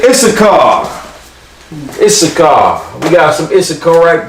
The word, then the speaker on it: Issachar: Yashakar. Sha. It's okay, right? Yup. Because I always be like, Yashishka car. Yashakar. Issachar. Yashakar. These get pronounced together, solo, together. So not Yasha Shakara. Yashakar. Yeah, when I first saw